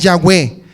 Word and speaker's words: Yahweh: una serie de análisis de su pronunciación, es Yahweh.